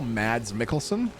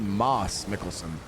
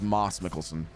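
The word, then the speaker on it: Mads Mikkelsen: And uh the same way that apparently you know Mads Mickelson. Yeah. His name is actually Moss Mikkelson. That's how you pronounce pronounce because it's Dutch.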